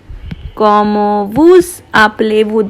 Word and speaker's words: Comment vous appelez-vous: I am pronouncing this S because this is a vowel. If this was a consonant, I would not have pronounced it. So it is Comment vous appelez-vous? Comment vous appelez-vous?